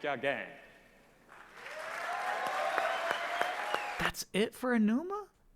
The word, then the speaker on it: Aonuma: That's it for Aonuma? Aonuma. Excuse me. Chat told me how to pronounce that correctly. It's Aonuma.